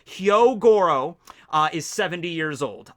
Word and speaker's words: Hyogoro: them together here right uh hyogoro which i think i finally pronounced his name right i've gotten into the habit of just saying hyorogoro because i thought there was an extra o in there but hyogoro uh is 70 years